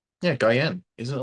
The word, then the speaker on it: Guillen: Isn't it Um, like the chocolate? Guyen? Yeah, Guyen.